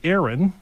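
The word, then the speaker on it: ARAN: vehicle is called the aaron and my name is aaron and this van is called aaron but it's spelled a-r-a-n stands for automated road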